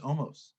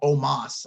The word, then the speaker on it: Omos: with bobby lashley versus omos i didn't expect that to be much of anything and or omas i guess is how it's pronounced uh omas was like